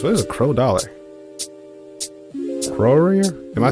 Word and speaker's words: crore: up here say it crore roar crore it's a noun that